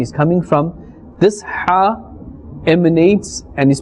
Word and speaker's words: ح: the halqiyya letters, and this is pronounced from the center of the throat, from the middle of the throat.